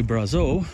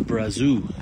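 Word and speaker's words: Brazeau: Again, I mispronounce things all the time, although, you know, when you're in, say, Jasper, I say Brazo, which is how it's pronounced in French, but the local pronunciation is Brazou.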